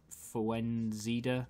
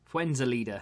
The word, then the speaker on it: Fuenzalida: card, keep forgetting how to say his name, Fuenzida? No, that's wrong. But you know what I mean. What's his name? Fuenzalida.